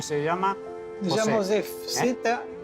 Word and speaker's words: Zew: llamo Zef. Me llamo Zef. Se escribe Z-E-W.